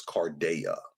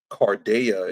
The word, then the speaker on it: Carda: If you look into the Roman goddess Carda, which is some stuff that I think Cody or Rambo talked about, somebody talked about the door man. And Carda is the goddess of the hinge.